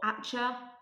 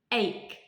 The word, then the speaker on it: ache: okay this one ache careful with the pronunciation it is not it is not actually or atcha no ache you try egg okay